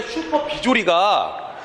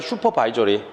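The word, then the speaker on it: supervisory: 원래 슈퍼 비조리가 영어야 영어. 슈퍼 비조리가 아니라 슈퍼 바이저리.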